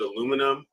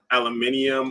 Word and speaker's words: aluminum: you pronounce aluminum because in the states we pronounce it aluminum but over across the Atlantic aluminium I yeah aluminium so